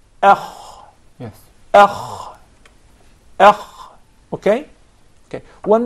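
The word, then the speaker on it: خ: Then you come to the kha, which is heavy, you say akh.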